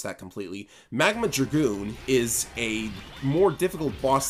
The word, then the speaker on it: Magma Dragoon: so of course i'm going to use it magma groot oh wow i mispronounced that completely magma dragoon is a more difficult boss than you might